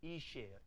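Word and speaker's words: אִישׁ: 그러니까 앞에 알렙은 소리 안 나니까 뭐라고 발음합니까? 이. 그 다음에 쉬. 그렇죠? 이게 왼쪽에 점이 있기 때문에 쉬라고 발음할 거거든요. 이렇게. 그러니까 알렙은 소리 안 나니까 모음만 읽어보면 모음이 뭡니까? 이니까 이. 그 다음에 뭐? 쉬. 이쉬예요. 이쉬. 그렇죠?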